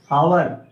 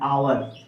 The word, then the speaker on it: hour: इसी प्रकार से देख लीजिए HOUR, हावर, पढ़ते क्या है, आवर, इसलिए हमने यहाँ पर किसका प्रयोग किया है, प्रोनाउंसिएशन।